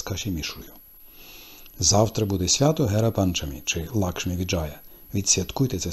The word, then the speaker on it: Гера Панчамі: Прихід богині щастя до Гундічі святкують як Гера Панчамі. Іноді Ативаді спотворюють вимову, називаючи свято Гара Панчамі.